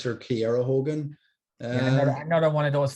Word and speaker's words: Kiera: They pronounce her Kiera Hogan.